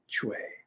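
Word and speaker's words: chui: to make the sound kidney sound is chway written and pinyin as c-h-u-i pronounced if i were to write it and try to render it in phonetic english c-h-w-a-y it's a short sound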